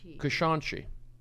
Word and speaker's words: Kashanchi: We have Kashanchi. Am I saying it right? At one point you were. Oh. Got that. You got. That. Kashanchi.